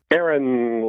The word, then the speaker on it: Aaron: Aaron. Hi Dean. How are you? I'm good. Or is it A-A-Ron?